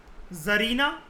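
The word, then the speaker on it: Tsarina: जैसे हम इसको अगर कह रहे हैं जार, TSAR को हमारे मुंह से कैसी प्रोनाउंसिएशन निकल रही है? जेड, है ना, जार। तो टी सरीना कैसी प्रोनाउंसिएशन होगी? जरीना। जरीना Alexandra, she वॉज अ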